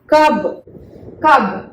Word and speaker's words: कब: ध्यान देना है कि दोनों लेटर्स पर सिमिलर स्ट्रेस होने चाहिए। इट्स नॉट लाइक दैट कब और कब, नहीं, ऐसे नहीं पढ़ते हैं। दोनों लेटर्स का प्रोनाउंसिएशन सेम वे में होना चाहिए।